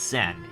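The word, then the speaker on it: Xen: your name is zen it's pronounced more like jen than zen but most people have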